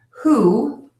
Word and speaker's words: who: The one exception to keep in mind, who is pronounced with an H sound.